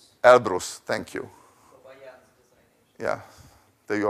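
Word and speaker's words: Elbrus: although I can't pronounce it Serge what's the pronunciation El Bru thank you yeah there you are but it's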